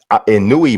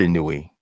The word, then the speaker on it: Inoue: I've heard Inouye, so I don't know if that's maybe because I don't know. I haven't heard a an announcer from his part of the world and now say his name, but I haven't seen that. But I hear you. I'm not sure. Have you heard it pronounced differently? I think I heard like Inoue.